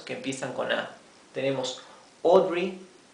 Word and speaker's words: Audrey: empiezan con a tenemos Audrey Audrey Audrey fíjense esto la a con la u tiene un sonido propio esta combinación de letras a y u se pronuncia o una o profunda o verdad audre audre